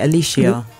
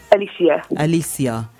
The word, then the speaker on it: Aleighcia: pronouncing your name correctly when I say Alicia Alicia so yes so people are I'm